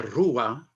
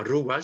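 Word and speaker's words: ruah: Mais originellement, la roua, la création, au moment de la création, hein, c'est Dieu par rapport à la création de l'être humain.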